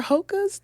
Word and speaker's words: Hoka: Are Hokas the new Crocs?